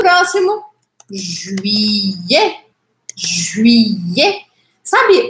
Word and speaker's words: juillet: Juillet. Juillet. Sabe o yeah, yeah, yeah? Yeah, em inglês. É quase isso, aqui um pouquinho mais fechado. Juillet. Yeah. É como se fosse I, E. Juillet.